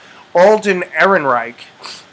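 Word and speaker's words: Alden Ehrenreich: Han Solo film as we know we've had alen Erin Reich yeah that's how you pronounce his name alen eron Reich um who was in Hell Caesar uh he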